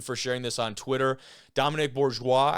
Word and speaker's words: Dominic Bourgeois: sharing this on Twitter Dominic Bourgeois I believe is the correct pronunciation here he knocks this